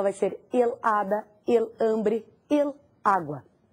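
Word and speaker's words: hambre: te dar outra palavra ambre ambre é fome an e isso muito bem an é a sílaba tônica el ambre outra palavra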